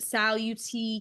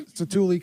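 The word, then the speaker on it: Satu'li: at Oh, I never know how to pronounce it. Saluti Canteen. Satuli Canteen.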